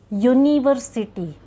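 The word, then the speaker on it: university: तो यहाँ पे देखिए ये यू इस प्रोनाउन के साथ में है, सॉरी ये वॉवेल के साथ में है, पर यू की प्रोनाउंस लगती है य, यूनिवर्सिटी, तो य की प्रोनाउंस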